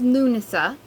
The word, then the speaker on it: Lughnasadh: one so as i said it's um it's pronounced lunasa but the other name lammus is old english